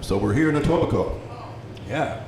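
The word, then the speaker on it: Etobicoke: part of Toronto called a tobico those of you who aren't in Toronto don't know that the K is silent but it is silent so we're here in the tobico yeah right on and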